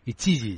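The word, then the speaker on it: iQiyi: TME, y IQ también, Ichiji, yo creo que se dice. No, si lo pronuncia usted de maravilla. Las Qs se leen como en perfecto mandarín lo pronuncia.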